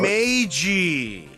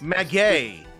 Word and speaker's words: Maggey: Maggie. That's not how you pronounce it. And the victim was left-handed. Maggie. That's not how you pronounce my name, Mr. Wright. Maggie. Close enough, I guess. Maggay.